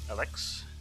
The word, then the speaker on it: ELEX: it's time to begin with Alex it's pronounced in German all right Joe shook